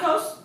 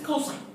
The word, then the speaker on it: cosine: This is not a cos, it's not a cos, not a cos. This is cosine, okay? Even if you see it as an abbreviation, you say it whole, cosine.